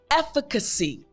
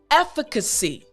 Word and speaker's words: efficacy: great job so the entire word now is efficacy great again efficacy excellent last time after me efficacy great job so now you know the meaning